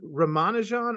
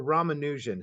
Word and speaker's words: Ramanujan: I say it correctly because in India, there aren't emphases on syllables. So in other words, it's even Ramanujan. So we in the West, when we say a name like that, it's you know inevitable we emphasize a syllable.